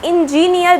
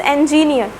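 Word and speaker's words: engineer: इंजीनियर, this is नॉट इंजीनियर, this is इंजीनियर।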